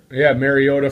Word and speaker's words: Mariota: Mariota.